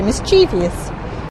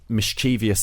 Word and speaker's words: mischievous: I expect you're right but I would say mischievous can I just say that that the so